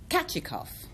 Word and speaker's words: Kachikov: It's pronounced Kachikov because it's a Russian word.